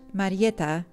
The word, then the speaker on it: Marietta: My name is Marietta, pronounced in Polish Marietta, and the diminutive is Marietka.